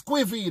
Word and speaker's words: Wijnaldum: A lot of people don't know how to say his name. I didn't know either. But the man's name is Wijnaldum.